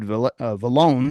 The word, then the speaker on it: Vallone: I'm going to start it off already saying it wrong, but it's Vallone. Sounds like a loan with a V is what you told me, right?